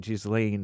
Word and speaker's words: Ghislaine: Some people pronounce it Ghislaine Maxwell.